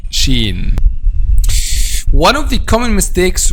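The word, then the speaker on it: شين: the first time that the counterpart in english is s h okay so it's not ch by the way but it's s h the next point which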